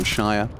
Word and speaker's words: Shia: Oh yeah, because like Shia butter, you know, that's spelled with an E, so Shia.